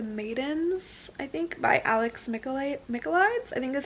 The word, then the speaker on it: Michaelides: It's called The Maidens, I think, by Alex Michaelides, I think is how you pronounce his last name, and he's the same author of The Silent Patient.